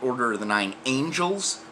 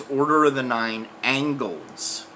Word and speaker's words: Order of the Nine Angles: of the Nine Angles, they're mispronouncing them in the news, calling it Order of the Nine Angels. It's not Order of the Nine Angels. It's Order of the Nine Angles, or O9A, or O9A.